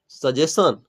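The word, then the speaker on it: suggestion: सजेशन। नहीं दोस्तों ध्यान में रखिएगा कि इसका प्रोनाउंसिएशन हम क्या करते हैं?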